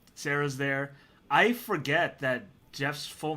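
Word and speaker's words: Geoff: nate nathan uh sarah's there i forget that jeff's full name is jeffrey jeffrey i just thought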